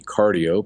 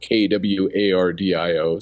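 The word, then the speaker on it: Qardio: But, uh, one uh, new device is out from a company called uh, Quardio Arm. It should be cardio, but uh, I noticed they were pronouncing it kw a r dio.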